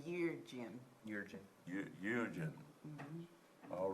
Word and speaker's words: Yeargin: So we got, Lindsay, Allen, Allen, Jurgen, I Juden, can't pronounce it. what is it? Y-E-A-R. I just say Yeargin.